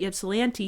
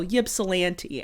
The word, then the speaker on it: Ypsilanti: But it has been said that Ypsilanti is the Brooklyn to Ann Arbor's Manhattan.